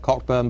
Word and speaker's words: Cockburn: I'm not responsible, but all Cockburns carry this mission through life: is your name is spelt Cockburn, but you pronounce it Cockburn.